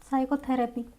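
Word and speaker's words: psychotherapy: एक है स साइकोथरेपी। साइकोथरेपी तो यहां पे हमारा पी प्रोनाउंस नहीं होता है।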